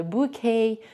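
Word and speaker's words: bouquet: Оці всі слова французької мови берет, букет, балет, так оці всі те там не вимовляється, тому буде bкей, berрей, оці всі слова.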